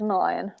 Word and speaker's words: Milan: uh and finally um is it malayan i'm sorry for jess i don't know jess yes it is it is milan okay i just wanted